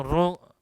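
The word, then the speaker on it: rho: तो पी एम बराबर रो आर टी, इसको रो कहते हैं, रो, आर एच ओ, इस तरीके से हम कहते हैं इसको रो, उच्चारण।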